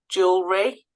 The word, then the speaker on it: jewelry: would just say business jewelry the the silent E is the third e we don't say Jew okay jewelry jewelry okay so you just need